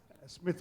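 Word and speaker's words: Psmith: Bertie Wooster or Smith or Smith with the silent P as in Tommy its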